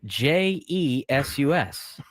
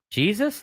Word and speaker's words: Jesus: This guy pitches from Philadelphia and his first name is spelled J E S U S. Jesus. No, it's Jesus.